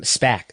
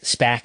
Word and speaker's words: SPAC: operator of bowling centers spec spac is the is the proper pronunciation uh bolero corp operator